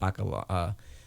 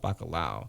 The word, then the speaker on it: bacalhau: They call it bacalhau. Okay. But I remember I'm Puerto Rican, we call it bacalhau. Yeah. But they call it bacalhau. I'm like, you're saying it wrong.